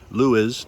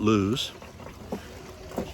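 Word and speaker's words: Lewes: sticky mud in the Lewis, I'm told it's pronounced, anchorage. Lewis, not lose.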